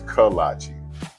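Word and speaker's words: kolache: No, that can't be right. It's kalachi, but it don't matter what you call it as long as you call it good. Start your morning the coach's kalachi's way.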